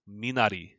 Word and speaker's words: Minari: i think about it it actually pronounced exactly the same as it in japanese um i don't know